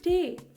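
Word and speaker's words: ټ: तो बेसिकली ये जो ते और नीचे गुलदारा है, दिस इज़ प्रोनाउंस्ड एज टे।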